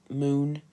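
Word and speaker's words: Muun: And then there's going to be Aqualish, there's going to be Devronian, there's going to be Moon. So it's spelled M-U-U-M-N.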